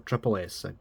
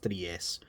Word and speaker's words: Three S: a brand new studio called 3s or Tri S I think it's pronounced 3s um but yeah brand